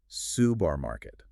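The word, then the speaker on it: سوبرماركت: The Arabic translation provided is pronounced subarmarket. Which is a modern phonetic transliteration.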